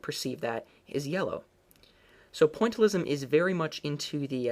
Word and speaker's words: pointillism: And that's this idea of um pointalism or pontalism as sometimes I hear it pronounced.